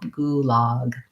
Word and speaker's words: gulag: a local pronunciation and then gulag has a tense ooh and the relax and the open ah gulag um okay sandra would